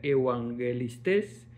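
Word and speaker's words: εὐαγγελιστής: Eh, tenemos profetas 4396 que significa vocero y evangelistas que se pronuncia evangelistes, que significa proclamadores de buen mensaje.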